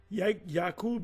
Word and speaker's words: Jacob: the name Yak her yakob is Jacob and that's how you say it in the Hebrew Y yab yakub is